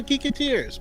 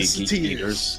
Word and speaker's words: Geeketeers: Like, would they be like geeketters or something? Maybe geek eaters.